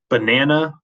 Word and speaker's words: banana: So, for example, in the word banana, the stress is on the na.